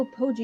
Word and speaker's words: Apogee: Time to go to Apology. You know, I'm pretty sure it's apogee. I know how it's Apology. supposed to be pronounced, but I don't like the way that that's pronounced, so I changed it.